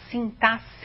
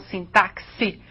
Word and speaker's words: sintaxe: sintaxe e assim mesmo que se pronuncia sintasse e não sintaxe como alguns querem n é então a